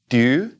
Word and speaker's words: tu: now the next one tu I mean we're gonna push it forward doo doo and we've got in